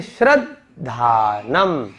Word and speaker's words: श्रद्धानम: द आधा है और ध पूरा है। तो अब इसका उच्चारण करेंगे तो सही उच्चारण आएगा। यानी कि जब हम बोलेंगे श्रद्धानम, श्रद्धानम, आप देखिए उच्चारण में साफ साफ पता चल रहा है कि धा बड़ा है, लेकिन कई लोगों को क्या कंफ्यूजन होता है कि ये छोटा है।